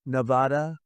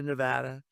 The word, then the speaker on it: Nevada: You ever see somebody when they say it's Nevada? Nevada? Oh, they're a deep trouble. I want to come to Nevada to pay my respects